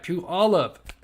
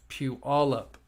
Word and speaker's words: Puyallup: Powell in um Peewee all up uh puola Puyallup there we go I said it right Pew all up that is such uh that is one word I could not pronounce uh Pew all up Washington I got it right um Josh parents